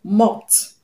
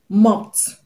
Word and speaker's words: mopped: Now the word mop ends in the sound p, which is voiceless, which is voiceless. Is among the sounds I gave you. So you're going to pronounce the past tense marker as t, t.